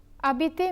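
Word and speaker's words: habiter: to the second verb a BT means to live the H is silent because it is a mute H since such an H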